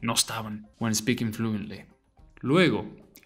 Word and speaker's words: luego: Luego, pronounce each vowel separately. They don't merge. Luego. Luego. It's not Lugo, it's not Lego, it's Luego.